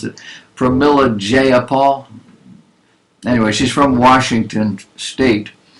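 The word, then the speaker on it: Jayapal: from Milla J a No her name is not J is jeyapaul I separated the syllables because I didn't know how to pronounce it from Millard jeyapaul anyway she's from Washington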